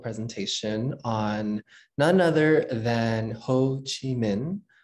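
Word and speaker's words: Hồ Chí Minh: on none other than ho chi minh or pronounced um in a standard vietnamese northern dialect as ho chi minh i grew up knowing him from a southern uh accent as whole and in addition to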